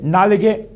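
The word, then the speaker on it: knee: Thai ಅಂದರೆ ತೊಡೆ, throat ಅಂದರೆ ಗಂಟಲು, ಟಂಗ್ ಅಂದರೆ ನಾಲಿಗೆ, ಎಲ್ಬೋ ಅಂದರೆ ಮೊಣಕೈ ಅಥವಾ ಮುಂಗಾಲು, ನೀ ನೋಡಿ ಇಲ್ಲಿ ಕೆ ಸೈಲೆಂಟ್ ಉಳಿಯುತ್ತೆ, ಕೆದ ಉಚ್ಚಾರ ಆಗೋದಿಲ್ಲ.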